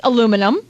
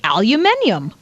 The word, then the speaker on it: aluminum: what's it called well depends where you're from if you're from America it's aluminum right but if you're from uh the UK it's aluminium right but see this person